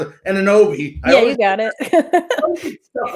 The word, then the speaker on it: Anunoby: You got, like you said, OG, I never pronounce it, Anunoby.